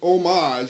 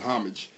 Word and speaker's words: homage: Before we get started, though, I want to pay homage. That's how they say it in Hollywood. It used to be just homage.